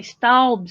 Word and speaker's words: staubs: about that is that i spelled stalls the way i pronounce it which really isn't the way it's spelled at all but s-t-a-u-b-s staubs and ditch water the second